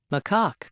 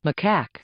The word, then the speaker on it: macaque: macaque my see or there is another pronunciation this one macaque so it's either or I like that one